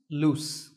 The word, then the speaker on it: loose: going to fall off to recap the pronunciation lose has a zip sound at the end and loose has a sound at the end lose loose number two is the